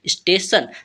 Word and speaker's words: station: इसे हम पढ़ते हैं स्टेशन। जब हमारा TION किसी भी वर्ड में लास्ट में मिल जाता है तो इसे हम सन पढ़ते हैं, ठीक है।